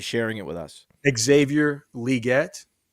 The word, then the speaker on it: Legette: Xavier Legette. It's Xavier Legette, not Xavier Legette. Okay. It's Legette, like the NFL National Football League, not Legette.